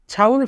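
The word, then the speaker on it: 장을: ছাউল ফোদা, ছাউল ফোদা মানে মুদি বাজার করা। এখানে ইয়ং বাচ্চিমের পরে ইয়ং থাকার কারণে ইয়ং এর উচ্চারণ হবে না, তাই উচ্চারণ হবে ছাউল।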